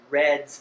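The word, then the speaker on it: redd: When we enumerate steelhead, we actually use the reds that they create. Now, red is the nest that the salmon builds in the gravel. That's spelled with 2 Ds, R-E-D-D.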